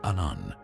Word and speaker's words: Aum: mouth open, forming the sound A, the first letter of the Sanskrit alphabet. Its partner has its mouth firmly closed, representing the sound M or Um, the last letter. Together, they form the sacred syllable Aum, a representation of the